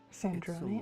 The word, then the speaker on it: Sandrone: I must speak with Sandrone. Sandrone?